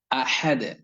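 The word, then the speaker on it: أحد: শব্দটি রয়েছে শব্দটি হচ্ছে আহাদ এই আহাদ শব্দটি বাংলায় আহাদ না এখানে মধ্যখানে বা মাঝখানে যে অক্ষরটি রয়েছে যে হরফটি রয়েছে এই অক্ষরটির উচ্চারণ এই হরফটির উচ্চারণ গলার মধ্যখান থেকে হলকের মধ্যখান তো এটা আমি বাংলাতেই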